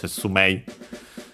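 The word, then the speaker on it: 説明: Notice, by the way, Setsume I. But yeah, E usually pronounced as long E nowadays. Some still pronounce it as Mei, as A. So in our case, Setsume. But yeah, Setsume, unaccented, as we have seen, explanation.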